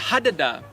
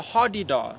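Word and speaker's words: hadeda: about birding but my favorite bird is the hadada although i've heard something yes it's pronounced with three a's there's three a's in there although i've heard some people call it the hardy-dah i know the hardy dark i think i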